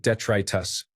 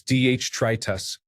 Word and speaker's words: detritus: I'd only ever read the word Discworld, so I pronounced it detritus. Apparently it's detritus.